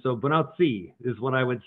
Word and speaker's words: Bonacci: And so I pronounce it more Italian. So bonacci is what I would say. Santos bonacci.